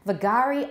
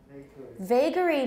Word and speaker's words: vagary: right the next one vagari i never heard we say vagary means something that uh